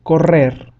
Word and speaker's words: correr: And whenever you see a double R or double R, it will always sound stronger. For example, we have the word correr, correr, which means to run.